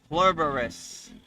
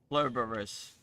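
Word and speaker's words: Pluribus: Uh, I have a hard time saying it. P L U R I B U S. I think that's how you spell it. It's an Apple series. It's like nine episodes. So it it's not a movie. It's a TV series. It's on Apple. So yeah, see if I can find it. Blurous. I think that's how you say it.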